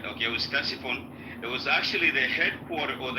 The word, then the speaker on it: Ctesiphon: Okay, the city before Baghdad was called Ctesiphon, right? It was called Ctesiphon. It was the well, now you say it right. Okay, it was Ctesiphon.